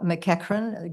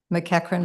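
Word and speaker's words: McEachern: my name is mcran is spelled g a i l mcran is spelled MC EA c h e r n so it looks like murn and your your I'm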